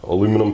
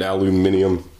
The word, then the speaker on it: aluminum: Just going to pop the aluminum pieces out. Aluminum for you British people. Mispronouncing it aluminium.